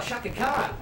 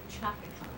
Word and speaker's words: Chaka Khan: Also, Shaka Khan. Shaka Khan. Oh, Shaka. Let's see what Shaka Khan has for us. And that's spelled C-H-A-K-A. That Mark. Chaka. Chaka. Chaka Khan.